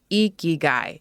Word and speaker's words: Ikigai: Yes, it's pronounced Ikigai, if you've heard of it before. He talks about lessons for finding happiness and living your life's purpose. I heard about Ikigai years ago in passing.